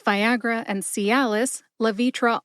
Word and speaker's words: Levitra: like Viagra and Calis lavitra also has three syllables L like lacrosse v as in the letter V and TR like tradition put it all together and you get La vitra emphasize V see if you can hear